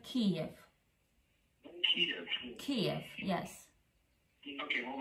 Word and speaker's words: Kyiv: Well, actually, Kyiv. I don't know if you can spell it. Not Kiev, but Kyiv.